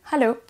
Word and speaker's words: hello: On a donc hello, hello, en pensant à bien prononcer le H, c'est pas hello, hello.